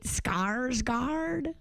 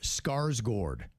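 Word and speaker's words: Skarsgård: It's not? No. What is it? Alexander Skarsgord Gord? Yeah, it's it's one of those cuz it's got that little whatever over the A and that's supposed to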